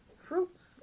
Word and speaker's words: fruits: Fruits, les fruits, les fruits, les fruits, les fruits, les fruits. Spelled fruits but pronounced fruit.